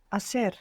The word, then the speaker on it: hacer: Begins with a silent H. Hacer.